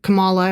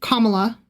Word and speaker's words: Kamala: And every time he did he would say it Camala and I would say Kamala.